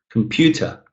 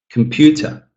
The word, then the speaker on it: computer: Again, pew. You can hear it very clearly, but come-ta, come-ta. Almost notable. It's almost not possible to hear it, really. And we really don't care about these syllables that much at all. What we really care about when we listen to someone is that stressed syllable.